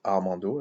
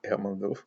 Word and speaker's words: Armando: Bon, il se prononce Armando, là, parce que j'ai tendance à le prononcer autrement, Armando.